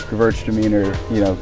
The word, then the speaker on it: Gewürztraminer: he said that someone told him to say it as Gewürztraminer, the girls are meaner, and kind of pronounce it that way.